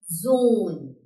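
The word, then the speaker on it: Sohn: Again, see, O में यहाँ पे दोबारा से H आ गया है. That means O का sound लंबा हो जाएगा. So we'll pronounce it zone.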